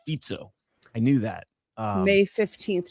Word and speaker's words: Fico: Fic No, it's spelled Fico but it has that little curly cue on the bottom of the C and you're told it's a Z so it's Fico.